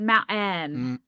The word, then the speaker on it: mountain: that vowel that's in that second syllable that became a little more articulated, mount-en. Mhm. Not just mountain, mount-en. Um kit-en. And that became kind of stigmatized as being, you know, a strong Utah pronunciation, and so then people hyper-articulated to mountain or kitten.